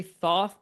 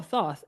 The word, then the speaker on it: Thoth: Me personally I just say Thoth because when I saw